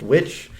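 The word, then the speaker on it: The VVitch: he's known for the witch which is spelled with two v's instead of a w but just pronounced witch because we're not too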